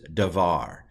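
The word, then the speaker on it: דבר: to pronounce it because it doesn't have a dot in it I'm going to pronounce it like a V and then this is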